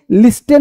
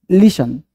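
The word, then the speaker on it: listen: क्या श पढ़ते हैं अब हैस्टेन नहीं सॉफ्टेन नहीं ऑफेन नहीं लिस्टेन नहीं पढ़ते ये अक्सर जो छोटे बच्चे होते हैं ना वो अक्सर गलती पढ़ते हैं शॉफन ऑफन लिसन देख रहे हो टी है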